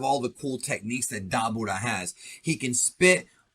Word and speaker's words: Dabura: And that is Gohan versus the Demon King Dabura, whose name really should be pronounced Dabura or Dabura, but it doesn't really matter to most of you. Just wanted to say that to be correct.